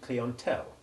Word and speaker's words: clientele: from the french and retains the french sound in the first syllable the i having a long e sound and the following e a nasal short o sound in contrast to the english word client the e l e